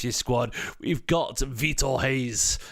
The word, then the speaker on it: Reis: squad we've got VTO Hayes apparently it's pronounced Haze seriously with h you